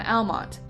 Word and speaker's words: Almonte: figure and agreed to name the town Almont pronounced the English way rather than the Spanish Way by 1871 Almont was